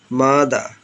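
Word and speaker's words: mother: মাদা, sister, ব্রাদা, এভাবে উচ্চারণ করতে হবে।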